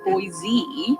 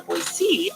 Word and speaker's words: Boise: And I do think in Idaho, like if you say Boise, you haven't been here very long. And once you get on to the Boise, oh, that's how locals say it, that you're sort